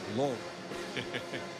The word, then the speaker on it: Louisville: My son goes to school at Bellarmine University, and Mike, I think the proper way to pronounce it is Louisville. Louisville.